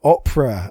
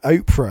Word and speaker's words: Oprah: has a cameo um you've got opera oprah however you want to pronounce it i say opera because i'm from the uk yeah um but you'll